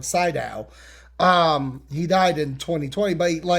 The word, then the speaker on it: Sydow: He plays the voice of Vigo, which Max Van Syl, if you are, I'm saying it wrong, Sydow.